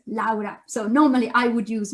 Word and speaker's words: Laura: japanese our name now my name in english is laura but in italian is laura so normally i would